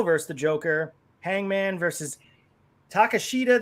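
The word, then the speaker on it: Takeshita: the joker hangman versus takashita that's how you say his name excalibur said it differently but it's takasha i think that's how he says his name takes them and then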